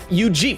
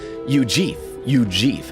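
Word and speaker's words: Eugief: Theo says soft G and Ujeef. Ujeef. Wow, TTS girl was able to say it. Ujeef.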